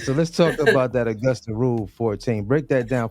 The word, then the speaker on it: Augusta: the austa 14 am I saying it right Augusta rule yes Augusta rule I don't think a